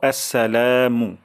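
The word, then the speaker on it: السلام: প্রথম শব্দটি হলো আসসালামু এই যে আস শব্দটি খুবই গুরুত্বপূর্ণ অনেক সময় আমাদের হয়ে যায় স্লা আসসালামু আলাইকুম অথবা আসসালামু আলাইকুম সালা এমন উচ্চারণ চলে আসে তাহলে প্রথম উচ্চারণটা হলো আসসা আসসা তারপর লাতে এক আলিফ টান দিব আসসালামু আসসালামু অর্থ শান্তি বর্ষণ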